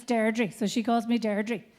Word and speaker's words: Deirdre: say my name with a Derry accent, it's Deirdre. So she calls me Deirdre. If you say Deirdre without the accent, it becomes Deirdre. So my father said Deirdre, my siblings said Deirdre.